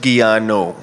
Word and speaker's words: Giano: Officially pronounced Giano. Giano. Yes. So I thought, okay. In Dutch, the way my parents name me, the way they call me is Giano.